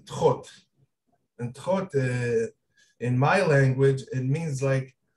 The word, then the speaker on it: Thoth: You know, the name Thoth, the correct pronunciation, the ancient Egyptian pronunciation is Thoth.